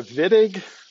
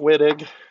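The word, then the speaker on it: Wittig: two here which are the vidiq reactions and pronouncing it correctly as part of the game here it's not witted okay the german guy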